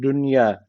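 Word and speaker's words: دنيا: ama arkadaşlar idam yok Bu Dünya kelimelerinde istisna vardı neydi Şu cezimli n ile y aynı aynı kelimede olduğu için arkadaşlar burada ishar varmış gibi okunuyor Dolayısıyla Burayı dünya direkt dünya diyoruz devam edelim ve kezalike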